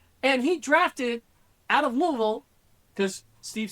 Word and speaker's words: Louisville: And he drafted out of Louisville, because Steve said it wrong earlier, it's Louisville.